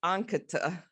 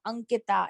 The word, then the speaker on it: Ankita: It doesn't have each syllable is equally stressed. Ankita, right? Yes. So like when you say señorita, so you know how the TA in the señorita is pronounced? So that's exactly how Ankita is pronounced, the last of, at least the last TA sound. I loved that description.